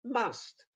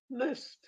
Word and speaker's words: must: misleading thing is that the first they give you the strong pronunciation the word must will be the first pronunciation will be must the second one be mist and then you also may have miss so i thought god